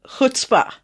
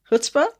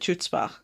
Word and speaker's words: chutzpah: yeah you've got no hutzpah hutzpah did i say it right we'll take it you need that like you're clearing the back of your throat no more hurts but